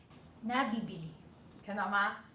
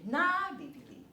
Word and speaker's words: nábibili: But the stress is different. Let’s take a look. Can be bought (nabíbili) Sell well (nábibili) Do you see? One is nabíbili; one is nábibili. That’s the difference.